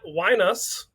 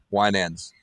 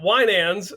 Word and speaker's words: Winans: are joined by matt weinus did i get that right nope ish it's wine and no ands wine ends we're joined by matt winans matt i apologize for